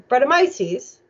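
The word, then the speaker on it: Brettanomyces: people know how to correctly spell and I'll pronounce it after we vote it is in fact bredda my C's and wow they got it this is one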